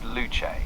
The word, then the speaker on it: Luce: Yeah, it's pronounced luche. So, it's kind of like the Italian or Latin inspired name with a soft ch sound in the middle.